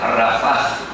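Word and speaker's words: רפה: Se pronuncia Rafaj.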